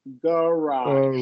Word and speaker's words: garage: The first syllable will usually be unstressed, so it's going to be a schwa. Barrage. Garage. Barrage.